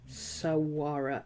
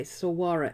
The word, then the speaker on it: saguaro: we're talking about oh it's got a g in it sawara oh is it a mexican name then okay saguaro cactus spinner spanish pronunciation so it is it is okay sawara s-a-g-u-a-r-o sauwara so this is an